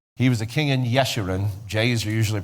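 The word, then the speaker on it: Jeshurun: He was a king in Yeshiran. J's are usually pronounced as wise in Hebrew.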